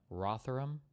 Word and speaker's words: Rotherham: traffic vulnerable white girls places like is it Rotherham is that am I pronouncing that or is like Roderham or Roderdam you would say these things differently rotherum rotherum in the UK is what does Boner Bucks say?